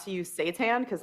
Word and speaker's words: seitan: Seitan, it's so it's Seitan is how it's spelled. It sounds like it's like hail Satan.